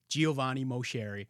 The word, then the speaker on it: Giovanni Moceri: I got my guy, Giovanni Moceri. I said it right? Did I say it right? Yes, you did.